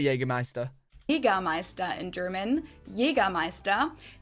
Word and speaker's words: Jägermeister: Jagermeister in German, Jägermeister. English speakers usually say Jagermeister, which is pretty much the same, just with a pretty thick accent.